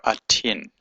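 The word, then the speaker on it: אתן: word a a 10 or at at so atin atin you to uh a w a group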